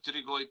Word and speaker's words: pterygoid: There are 2 of them pterygoid, pterygoid. Okay? Remember the B is silent.